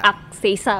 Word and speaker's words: Agseisa: Age Seisa. Jadi Akseisa bacanya.